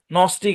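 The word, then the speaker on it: gnostic: তারপরে দেখেন যেসব জায়গায় জি উচ্চারিত হবে না, খেয়াল করেন শব্দের শুরুতে বা শেষে জি এন থাকলে জি সাইলেন্ট। যেমন ধরেন নেট আছে এখানে, তারপরে সাইন আছে, সাইন হচ্ছে শব্দের শেষে, নার্ল আছে, নস্টিক আছে।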